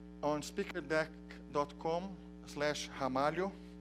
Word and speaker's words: Ramalho: comm slash hamari oh so my last name you pronounce as if it started with an age Hamal you support in Portuguese that's how we pronounce they are in the beginning of our word so that's that's where